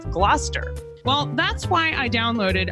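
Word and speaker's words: Gloucester: Like originally, I said glalcaster instead of Glouester.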